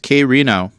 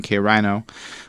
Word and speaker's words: K Reno: he said it's pronounced K Reno, not with an I but like an E, because we spent the whole review calling him K Rhino, which was not his